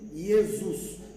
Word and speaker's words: Jesus: Maintenant, Jesus, pour être prononcé, les S entre deux voyelles, ça sonne Z. Hein? C'est pourquoi, chez les latins, ils appellent Jésus Jesus.